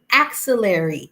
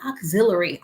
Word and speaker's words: axillary: how I say it I pronounce it as axillary it is not auxiliary auxiliary is a cord so an axillary temperature is the temperature